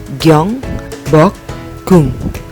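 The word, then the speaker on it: 경복궁: Gabungan dari giok, yo, ieng, biep, o dan kiok, lalu ada giok, u dan ieng. Dibacanya apa? Ya, gyong, bok, gung, gyong, bok, gung. Nah, di sini ada huruf giok karena dia terletak di ending, maka bacanya ka.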